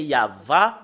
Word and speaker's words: Yahvah: c'est euh normalement euh d'après les Européens c'est ya mais si nous revenons à l'hébreu ancien c'est yava le prononce la prononciation et